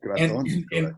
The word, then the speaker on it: Gratton: Luigi Gratton, right? That's how you say it, right? In English. Got it. Gratton.